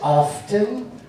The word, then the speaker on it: often: It's often. Remember silent letters from when you were a kid? You don't say comb. You don't say receipt. You don't say pneumonia. It's often. Get it right.